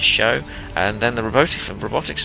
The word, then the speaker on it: SjoW: for uh show sorry I keep thinking of pronouncing it sjo but it's show and then the robotic